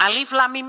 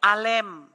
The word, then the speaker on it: Alif Lam Mim: Ternyata itu bacanya bukan Alif Lam Mim. Itu bacanya itu Alem.